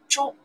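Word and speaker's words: 珠: The whole character pronounced Zhu from this radical, from the left side, Zhu. Okay. Zhu. This radical pronounced Wang, somebody last name Wang. This radical pronounced Zhu, somebody last name Zhu. Together character, we follow this radical, we pronounce Zhu.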